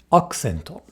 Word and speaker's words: アクセント: Accento. Accento. Is the U voiced here? Well, it occurs between a K, K, K and an S, S, S. These are both unvoiced consonants. Thus, the U becomes devoiced.